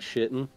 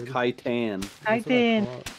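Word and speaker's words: chitin: ] and armor yep it's exactly how you pronounce it it is not shitten is it it's armor nobody really knows how to pronoun it's kitan dude I heard I was going to say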